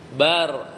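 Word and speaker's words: بل: Contoh surat An-Nisa bal. Bar. Nah, ini ada idgham ya, lam ke ra. Jadi bacanya bar. Lamnya kalah ya.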